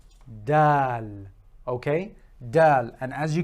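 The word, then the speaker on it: دال: from its first letter it is equivalent to our D in English pronounced from the exact same place the articulation is the same so it's just a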